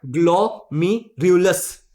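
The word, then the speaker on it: glomerulus: ग्लोमीरुलस। ठीक है, RULUS, Luce. ठीक है, ग्लोमीरुलस, रूलस अस नहीं है रे, ग्लोमेरुल्स।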